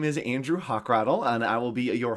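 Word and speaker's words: Hochradel: It's just hawk with a rattle, like a hawk with a little rattle.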